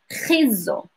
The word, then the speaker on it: خيزو: So yes, khizo, khizo. So pronunciation, widen your mouth when you say it.